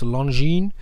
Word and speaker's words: Longines: here okay something from longine and i guess i'm pronouncing it right you learn i think you're not supposed to pronounce the s it's longine there are a bunch